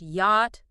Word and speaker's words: yacht: The critical misfire here is that silent ch. If you don't know this word, you will almost certainly try to pronounce it as yacht with a chi sound.